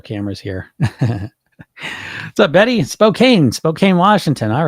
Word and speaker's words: Spokane: the old multiple cameras here what's up Betty Spokane Spokane Washington all right or is it Spokane I just got a lesson on this not long ago I was saying it wrong right so it's Spokane I believe I was quickly corrected I'm from